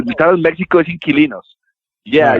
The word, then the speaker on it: Inquilinos: Inquilinos. Is that still the title in Mexico? They just changed the name for English. Yeah, no. The title in Mexico is Inquilinos.